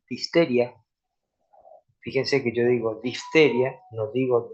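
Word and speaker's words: diphtheriae: Fíjense que yo digo difteria, no digo difteriae, digo difteria porque la e al final en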